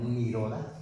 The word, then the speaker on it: nirodha: Pero esta nirodha, así se escribe, como nirodha, como se oye, es la antesala al nirvana.